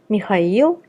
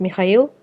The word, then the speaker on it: Mikhail: Be careful though, there are some exceptions, and one of them is Mikhail in the first name and Mikhailovich in the patronymic.